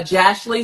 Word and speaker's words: Jashley: name on the app it's uh jashley so like Ashley with the J hold on one second